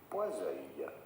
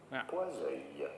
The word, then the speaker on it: Poiseuille: In French, in France, we would say Poiseuille. Poiseuille.